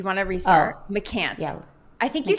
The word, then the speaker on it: McCance: Oh, McCance. yeah, I think you said McCance. You said it right the first time, but just now you said McMahon.